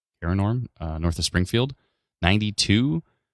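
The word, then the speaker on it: Cairngorm: g o r m my my brain just immediately went to Kon but it's not it's kin Norm korm uh north of Springfield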